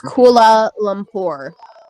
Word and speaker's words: Kuala Lumpur: Kuala Lumpur against Pagan. It's Kuala Lumpur.